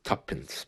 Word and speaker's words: tuppence: We pronounce it as tuppence because that's the old English way of saying 2 pence.